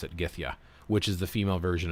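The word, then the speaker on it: gyðja: for F, Gith, and J's are pronounced like Y's are in English, so that's Ya, just like the word Yow.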